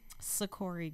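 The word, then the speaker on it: Seccori: to your mic and say your name again sikori and spell it for us s-e-c-c-o-r-i and g-r-e-e-n and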